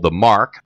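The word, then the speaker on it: Marque: it's going to be at a business that's called The Mark which is a private club and that's spelled m a r qu e it's at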